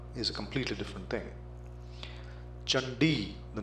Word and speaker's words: Chandi: a completely different thing chandi the name of Davi c a n d i you are bound to pronounce it as candy which is totally different from chandi Chakra becomes kakra gacha